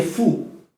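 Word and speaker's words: ふ: Quindi è fu, non è hu. Fu. È uguale. Cioè quando dici hu, quel h è quasi una F.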